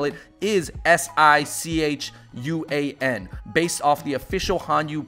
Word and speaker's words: Sichuan: from round two at Sichuan Mountain House.